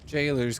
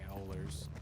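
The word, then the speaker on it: gaoler: Yeah, I know that said Gowlers. Like G-A. Oh, it's Jailers. I played Octopath Traveler and a little bit of Elden Ring. I know it's pronounced jail. It's stupid. It's Old English.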